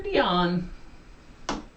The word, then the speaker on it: Dionne: Whitney or Dionne? Dione. Dion is how it's pronounced.